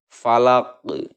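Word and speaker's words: فلق: di akhir karena wakop, maka cara membacanya adalah qalqalah kubro. Falaq, itu ya, falaq. Oke, cara membacanya adalah dengan cara memantulkan huruf qalqalah dengan benar-benar jelas, besar dan tebal.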